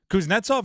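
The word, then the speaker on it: Kuznetsov: u z NE t s o v correct KZ Nets off is actually spelled fairly phonetically exactly sound it out nailed it there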